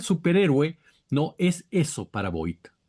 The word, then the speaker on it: Vought: Y entonces el superhéroe no es eso para Voight. Es o Voight, ¿no? Es Voight, ¿no? Me parece que es Voight, la pronunciación correcta.